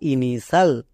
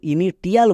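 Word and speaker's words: initial: পুরোটা ইনিশাল। INI TIAL, ইনিশাল। একে কেউ ভুল করেও ইনিটিয়াল বলবে না।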